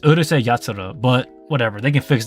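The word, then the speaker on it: Urusei Yatsura: space this out here I read it like how it is Urus yat that's not how you say it it's Ur yat but whatever they can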